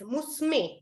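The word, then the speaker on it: むすめ: further my daughter is musume now here the word is written as Mo Sumi but when you're pronouncing it when you're saying it out loud you say musume and not musume okay someone else's daughter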